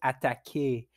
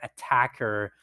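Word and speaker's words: Attaquer: should I call it ataki or should I call it attacker because it's Australian the only thing is they spell it like the verb to attack at that key in French and since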